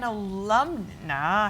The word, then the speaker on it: alumna: Now you're an alumna, how do you say that?